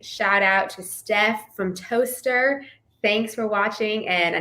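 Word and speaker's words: Towcester: city and she's like it's pronounced and she wrote out the word toaster like the thing that you you know with bread i was like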